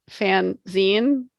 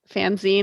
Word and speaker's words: fanzine: of this conversation that I mispronounced fan Zen fanzine is the right way to pronounce it fanzine yeah yeah because